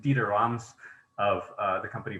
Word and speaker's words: Dieter Rams: And one of my favorite influences outside of music is the very famous designer, pardon my German pronunciation, Dieter Rams, of the company Braun, or Braun if you're American, Braun.